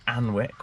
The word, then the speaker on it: Alnwick: So if you're ever around Northumberland in Alnwick, we've all been saying it wrong, just come to Alnwick Castle.